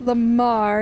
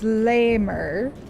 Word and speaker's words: Lamer: It's not Lamar, it's Lamer. And I know that's the ongoing joke, but I cannot bring myself to purposely mispronounce it. I cannot look at Lamer and say Lamar.